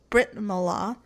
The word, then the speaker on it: Brit Milah: So, the Jewish circumcision ceremony is formally known as Brit Milah, but it's more commonly known as bris.